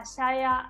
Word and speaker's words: Xiaoya: we've got here uh Shaya from East China Normal University and uh Richardson and group Hospital hi everyone my name is xiaoya and Anna you have pronounced it perfectly but I think everyone